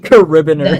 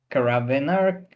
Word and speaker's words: carabiner: Caribbeaner. No. No. I I just I I just didn't expect that to be the pronunciation for Carabiner.